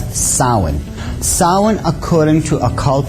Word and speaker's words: Samhain: as if it's saying Samhain or something like that no no no this is properly pronounced in the ancient Gaelic as sowon sowon according to a